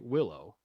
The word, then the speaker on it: Willow: you do go by Willow. Yes. Yeah, Yes. like the tree. Yeah. As we were talking about, I tell people the G is silent.